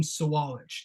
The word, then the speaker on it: Sawalich: I've been told it is William Sawalich. That is how you pronounce his name.